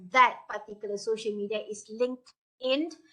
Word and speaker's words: LinkedIn: for those who do not know the correct pronunciation of that particular social media is LinkedIn it's not linked it it has never been a link in it's linked in all right so if you